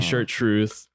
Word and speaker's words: Chartreuse: how to say it the French way. Chartreuse. Chartreuse. Chartreuse. Chartreuse. Repeat after me. Chartreuse. There you go. All in the throat.